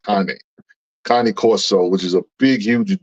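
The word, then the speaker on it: Cane Corso: had a cone cor Corso some people say Kane Corso but it's the it's pronounced Connie Connie Coro which is a big huge dog that you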